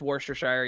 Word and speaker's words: Worcestershire: look it's the best by knowledge it's just worcestershire yeah i always call it but it's spelled warchestershire why do they have to make